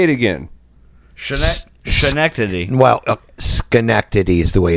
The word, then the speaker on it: Schenectady: listens to this say it again Schenectady well Schenectady is the way it's pronounced okay so let's take a vote of